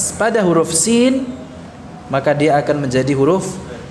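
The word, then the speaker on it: س: Zai jahr, sin hams, ya. Bedakan pengucapan antara keduanya, ya. Sama-sama mengalir suaranya, namun untuk zai tertahan nafasnya, untuk sin mengalir nafasnya.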